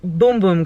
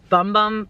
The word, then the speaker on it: Bum Bum: was like $45 that's insane for lotion or boom-boom cream it says bum bum but it literally pronounced boom boom just by the way but